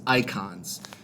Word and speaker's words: Eikons: on and experience with this game, are these icons. It's spelled EIKONS.